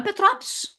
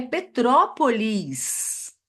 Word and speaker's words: Petrópolis: onde você mora petrop gente não é petrópol é Petrópolis e ainda pronunciando s